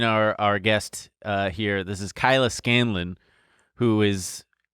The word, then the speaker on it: Kyla Scanlon: This is Kyla Scanlon, who is. Did I say that right? Yeah, you said it right. No, a lot of people get it wrong.